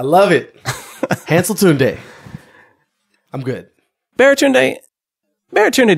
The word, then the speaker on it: Baratunde: Baratunde does not seem like that hard of a name. It isn't. Four syllables. It's simpler than encyclopedia.